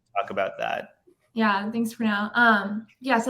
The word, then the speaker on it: Pranov: Well, I'm Pranov, as Lou said, and actually you got the pronunciation perfectly.